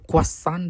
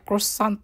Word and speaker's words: croissant: Pero quasan daw pala yan pag-pronounce guys sa French. Pero kay wala man tayo sa France kaya crossant kung ano yung nakasanayan.